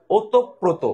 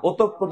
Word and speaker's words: ওতপ্রোত: এটা উচ্চারণ হবে ওতপ্রোত। ওই বলি না অতঃপর জড়িত থাকে, না, ওতপ্রোত জড়িত থাকে।